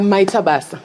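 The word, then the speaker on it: Maita basa: Maitabasa.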